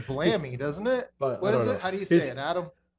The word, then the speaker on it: Melloul-Blamey: think that Anyways, says Blammy, doesn't it? but I What don't is it? know. How do you say He's it, Adam? Melloul-Blamey.